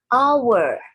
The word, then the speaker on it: hour: bunyinya seperti Huruf hidup ini tuh dibacanya our bau walaupun tulisannya hours dibacanya hour Nadia bunyinya seperti Huruf